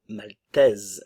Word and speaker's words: maltaise: le son et et maltaise le E ne se prononce pas la S Swen le S se prononce maltaise la Norvège la